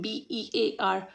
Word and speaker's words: bare: which are b-a-r-e and b-e-a-r both the words are pronounced as Bear Let's understand the meaning